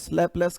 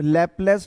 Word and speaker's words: Laplace: हाँ जी, स्पेलिंग कर बोलूं क्या? LAPLACE', लैपलेस correction.